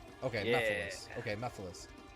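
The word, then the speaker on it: Mephiles: I thought it was Memphis, like Memphis, Tennessee.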